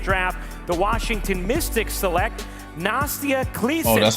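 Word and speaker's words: Nastja Claessens: With the 30th pick in the 2024 WNBA Draft, the Washington Mystics select Nastia Kleesens. Oh, that's how you pronounce it. Nastia Kleesens.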